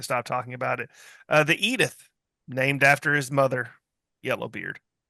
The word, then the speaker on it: Edith: could I pronounce it like Archie Bunker? Eat it. Eat it. Edith. Yeah, I did not know.